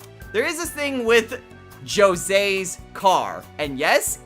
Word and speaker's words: Jose: There is this thing with Jose's car, and yes, it is pronounced Jose, despite what you might think.